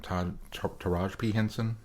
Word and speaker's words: Taraji P. Henson: I don't know how to pronounce her name. Taraji P. Henson.